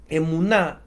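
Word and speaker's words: אמונה: que es la palabra emunar yo les quiero que ustedes esta palabra la noten la guarden y es una palabra que se pronuncia emuná es la palabra que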